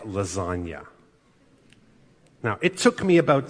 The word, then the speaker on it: lasagna: silence like lasagna well the word lasagna in English is not pronounced lazagna I don't I think German words almost never have silent letters but in English we have a lot of silent letters and lasagna has a silent G Little Wayne is a